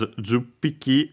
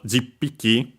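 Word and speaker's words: じゅっぴき: And last but not least, juppiki, mostly pronounced as juppiki with the u, small u. Technically, a more formal and original form was jippiki, as it actually followed the rules of ippiki and so on, because actually the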